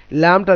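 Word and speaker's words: لام: লাম জিহ্বার আগা ওপরে ওপরের দাঁত, মানে উপরের দাঁতের গোড়া মাড়ির দিকের অংশ লাম উচ্চারণ হবে, যেমন আল্লাহ, লিল্লাহ, লা, লি, লু, খুব সহজ, এটা বাংলা লয়ের সঙ্গে মিল আছে।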